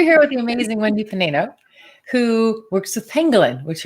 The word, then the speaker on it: Panaino: I never pronounce it. I don't know if I know. Panaino. Okay. So great. Yeah. All right. So we're here with the amazing Wendy Panaino, who works with pangolin, which are some of